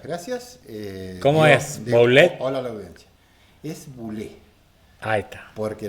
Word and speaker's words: Boulet: Hola la audiencia es bul Ahí está porque la ou en francés suena como u y la consonante final no se pronuncia así que sería bule vio que es docente